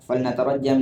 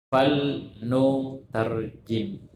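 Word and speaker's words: فلنترجم: Summa qala rahimahullah ta'ala fal natarajjam li hayati Ali bin Abi Thalib ma hadaini radhiyallahu anhum. Betul itu bacanya? Keliru. Apa yang betul? Fal nu tarjim. Fal nu tarjim. Lamnya situ lamul amr.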